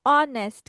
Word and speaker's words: Honest: কেউ কিন্তু Honest. হনেস্ট বলবা না, হনেস্ট বলা যাবে না, ঠিক আছে? এটার উচ্চারণ কি করতে হবে? অনেস্ট। কি বলবো আমরা? Honest. অনেস্ট। এইচ এর উচ্চারণ Honest. করা যাবে না।